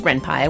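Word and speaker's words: Ren'Py: I plan to use Ren Pai which I do know how to say now P is for python things change in a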